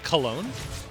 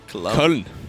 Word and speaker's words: Köln: You pronounce that like an American. Cologne? Köln.